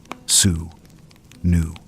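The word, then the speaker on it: swnw: A physician or swan w pronounced sue new would use both practical remedies and magical incantations.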